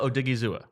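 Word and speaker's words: Odighizuwa: Give me the pronunciation, please. Osa Odigizua.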